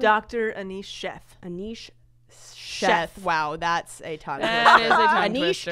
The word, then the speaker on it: Anish Sheth: Anish Sheth.